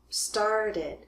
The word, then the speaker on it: started: started started what happened now start started now I have two syllables started I don't say